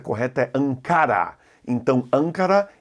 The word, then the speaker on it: Ancara: me corrigiu dizendo que na língua portuguesa a pronúncia correta arrancar a então ancara e nem línguas pancada em português obrigado jaqueline